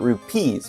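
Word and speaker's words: rupees: AAR and of time but the plural version of rubies with a B is not the way that they say it in in ocan time they call it rupes with a r u p EES so it's slightly different um but they're also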